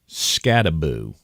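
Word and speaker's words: Skattebo: From the official pronunciation guide of Arizona State, by the way, it's Scattaboo.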